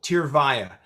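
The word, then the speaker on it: Tyrvaya: it's a very promising treatment how do you pronounce the name of it it's a tough name but it's actually pretty simple tear via t-y-r-v-a-y-a in spanish it means tears go oh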